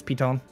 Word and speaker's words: piton: It's pronounced piton. Le piton.